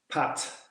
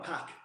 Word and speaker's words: PAT: Yeah, you got people saying, "Oh, we mean our PAC testing doing PAC," and it's like, yeah, no, it's PAT.